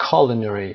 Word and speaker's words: culinary: culinary تلفظش هست culinary که به آشپزی مربوط میشه، هر چیزی که مربوط به cooking هست.